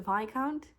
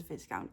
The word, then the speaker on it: Viscount: V count it the vi count it's pronounced VI count but you read it as Viscount I'm Dutch I'm the